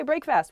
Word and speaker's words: breakfast: up in the morning you break the fast but we don't say breakfast we say breakfast in a sentence this